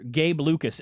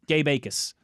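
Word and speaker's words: Jacas: Is it Acus? The J is silent. Gabe Acus.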